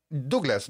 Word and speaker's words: Douglas: What is the right pronunciation of your name? Well, it's Spanish. Douglas, it's funny because when I came here, they will ask, say, what's your name, right?